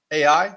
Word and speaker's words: Ai: It's spelled AI. In my entire life, I've heard people pronounce it AI. So let's just go with that.